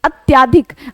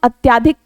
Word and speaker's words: अत्यधिक: यानी कि जिसमें शुद्ध हम अत्याधिक कई बार बोल भी देते हैं जल्दबाजी में जबकि शुद्ध होता है अत्यधिक क्या शुद्ध शब्द होता है अत्यधिक जो है ये शुद्ध शब्द होता है।